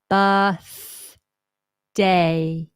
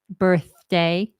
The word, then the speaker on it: birthday: it happy happy B we have that letter box vowel sound uh no R we don't say b b t h bir day bir day birthday so I tend to hear things like birday bird birthday but we just want Noah it's actually easier relax the tongue birth birth birthday birthday